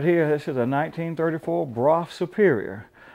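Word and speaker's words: Brough: This is a 1934 Broff Superior. A lot of people mispronounce it too. They call it Brogue, but Broff is the proper pronunciation.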